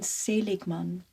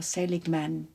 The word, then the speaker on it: Seligman: were a researcher called Martin saligman or saligman he's American so I shouldn't pronounce him in German did re church with